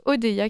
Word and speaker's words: Odeia: Je rappelle que Odeya s'écrit O-D-E-I-A.